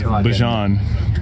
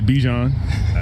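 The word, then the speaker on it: Bijan: How you pronounce my name is Bjon for everybody that's that's out there. Um I know a lot of people say Bjon but it's let me hear it for you.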